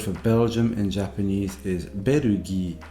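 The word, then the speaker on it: ベルギー: The word for Belgium in Japanese is berugi, not berujamu, or whatever you might end up with if you try and take the English word and Japanify it.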